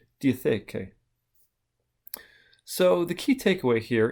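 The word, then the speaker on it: διαθήκη: However, it is apparently still the same underlying Greek term, pronounced something like diatheke.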